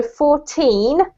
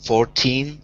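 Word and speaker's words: fourteen: So 14 has the emphasis on the teen, and 40 has the emphasis on the 4, okay?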